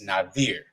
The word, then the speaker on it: Nazir: But it's not Nazir. It's Nazir. And I know it's spelled with a Z.